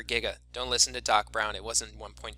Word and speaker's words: giga: Mega and Giga and it's a hard G for Giga don't listen to Doc